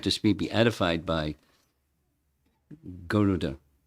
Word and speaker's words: Garuda: He used the word elongated vowel over Garuda. Everyone says Garuda. It's not Garuda. It's Garuda.